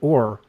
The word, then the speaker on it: Ur: So, for example, the city of Our, it's spelled UR. You can look at this.